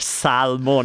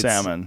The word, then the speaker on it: salmon: No, but also my pronunciation, salmon. I'm pronouncing every single letter, whereas in English it's... Salmon.